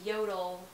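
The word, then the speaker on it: Jøtul: heating up and yeah they are made in norway pronounced yodel spelled j-o-t well um so that's kind of fun yeah we never would have guessed it was pronounced that way it looks like joel for sure and we've heard that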